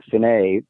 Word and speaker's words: Phinuit: Piper's early control was a person called Dr. Finney, is spelled Phinuit.